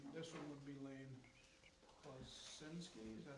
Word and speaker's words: Klosinski: contingency, and then This one would be Lane Klosinski, is that how you pronounce it? Klosinski, yep.